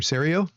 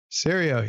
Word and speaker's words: Serio: Serio. Serio.